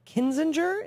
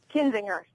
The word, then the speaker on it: Kinzinger: for congress in Illinois's 16th District against Adam kininger is am I pronoun pronouncing that correctly kinzinger yeah tea party yeah tea party freshman Adam